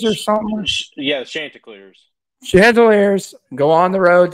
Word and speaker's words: Chanticleers: We've got a Thursday night matchup at 7:30 on ESPN2, where the Coastal Carolina, and I believe I pronounced their mascot right, the Cantaliers or something? Yeah, Chanticleers.